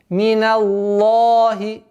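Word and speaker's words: مِنَ اللَّهِ: А есть о, что является ошибкой. Миналлахи. Обратите внимание между а и о. Миналлахи. Миналлахи, что является ошибкой. При произношении лафзуль джаляля ло – это ошибка. Миналлахи – твердое произношение.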